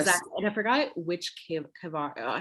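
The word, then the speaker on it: קבר: And I forgot which kavar, how do you pronounce it? Like, what's the Hebrew word for burial site? Caver.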